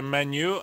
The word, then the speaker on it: menu: amerykańsku a po francusku my mówimy po polsku menu a po angielsku mówi się Maniu a po francusku a